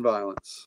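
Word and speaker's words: Violens: Saxon Violence. Saxon Violence. There but we go. But it's spelled S-A-C-H-S.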